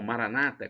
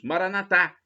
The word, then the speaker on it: Maranata: separados protestantes e evangélicos eles falam Maranata com a tônica na penúltima sílaba nós católicos falamos mora na tá com a tônica na última sílaba não importa Esse é